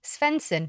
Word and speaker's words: Sveinsson: episode we're going to be chatting to monique svenson that's how you pronounce it from perfect planner company about planning